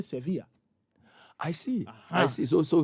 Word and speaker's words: Sevilla: Even the way they pronounce, because for example, in Spain, V is pronounced as a B. That is why if you've ever heard me, if you've ever listened to me talk, I never say Sevilla. I say Sevilla.